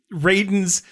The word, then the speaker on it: Raiden: but uh I hate I hate having to pronounce it Raiden it uh kills me every time want to say Ryden cuz it should be Ryden it should be Ryden but it's Raiden yeah hey at least